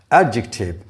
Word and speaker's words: adjective: kate bates it etc adjective the stress is on the first syllable this word is gerund